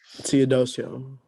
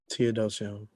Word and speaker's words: Teodosio: dioso how do you say it Tod T theodosio theodosio nice okay so uh tell the people